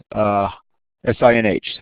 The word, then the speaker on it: sinh: So, for instance, the hyperbolic sine, written as S-I-N-H and pronounced sinh.